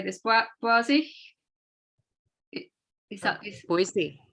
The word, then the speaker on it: Boise: Boise. Is that Boise? Boise.